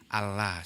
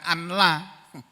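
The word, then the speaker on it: أَلَّا: kemudian la tapi jadi allaha seperti itu loh Allahu akbar Allahu akbar Ashadu Alla ilahaillallah Ashadu anna muhammadar rasulullah Allahu akbar Allahu akbar Ashadu Allah itu Allah bacanya bukan anla dulu pernah di rumah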